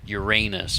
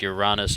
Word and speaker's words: Uranus: life on Uranus maybe we used to pronounce it Uranus but yeah I just sort of started calling it your rawness a few years ago and you might think